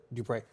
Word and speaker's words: Dupre: Dupre.